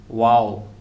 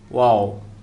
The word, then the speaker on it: ওয়াও: কফ, calf, ওয়াও। অনেকে এটা পড়ে থাকেন ওয়া, কিন্তু না, এটার সঠিক উচ্চারণ হচ্ছে ওয়াও।